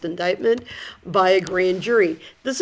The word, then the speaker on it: indictment: it kind of looks like IND but it's pronounced indictment by a grand jury this is usually used